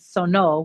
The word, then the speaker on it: sonó: So I guess my question is, when you switched it to past tense, you said sono with an accent on the O, last syllable.